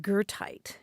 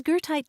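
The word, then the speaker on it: goethite: there at one time and gertite is spelled g-o-e-t-h-i-t-e and when i first saw that word grant i thought well that looks like gerta the name of the german poet is there a connection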